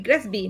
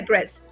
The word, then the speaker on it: GRESB: ASGs y el GRESB, o el GRESB, le dicen algunos, aunque la mayoría le pronuncia GRESB.